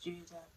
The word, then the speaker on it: Jude: So Jude is actually pronounced Judah.